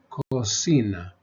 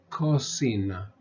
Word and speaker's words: cocina: k sound and then the C before the I we give it the S sound so this word becomes cosina cosina Cuba Carro Cocina the